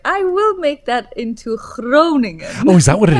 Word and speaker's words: Groningen: I was like, I will make that into Groningen.